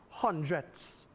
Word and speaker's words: hundredths: Emphasize as you pronounce it, hundredths.